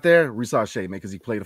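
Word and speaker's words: Risacher: It's Risache. Because it's French.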